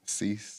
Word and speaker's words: cease: And the cis and the cis cis and desist. Am I saying that right? Cease.